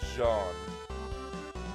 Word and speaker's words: Zeon: Well, not the Duchy of Jean, because that's how you're actually supposed to pronounce it. Principality of Zeon.